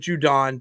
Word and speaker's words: Judon: You say Judon, and I say Judon. On, because he's always on. Judon. He's on. It's just Judon like when people say TV instead of TV.